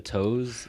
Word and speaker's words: To: My last name it's spelled T-O, it's pronounced toe, but then like...